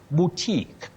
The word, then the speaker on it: boutique: You say boo. Boutique. Boutique, not boutique.